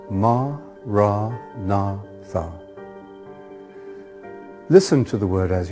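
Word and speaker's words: maranatha: you choose that word say it as for syllables ma ra na Tha listen to the word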